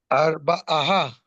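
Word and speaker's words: אַרְבָּעָה: Arba, aha, Arba'a. Arba, ah. Mm-hmm. Very Ar, good. The final ar, A is not ba, pronounced. ah. Arba'a. The final hey is not pronounced.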